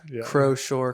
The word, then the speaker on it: Croushore: Cuz for a lot of times like the ocean shore. Yeah. But for a lot of times I wasn't sure if I was saying it right or wrong. Croshore.